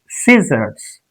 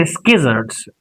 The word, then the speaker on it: scissors: Now C is silent. If you look at this word MUSCLE, it's muscle. SSCI, SSO, or S. Scissors. Scissors. We don't say skizzards.